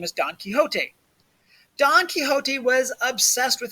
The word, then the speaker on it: Quixote: Don Quixote, notice how I pronounce that, Quixote, also sometimes known as the Man of La Mancha, because that's where he's from.